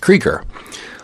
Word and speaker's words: Krueger: Yes, that's pronounced Krueger.